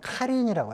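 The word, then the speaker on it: Халхин Гол: 발음이 몽골 사람들이 약간 할인도 아니고 카린이라고 해요. 카린, 카린. KH 발. 그렇죠.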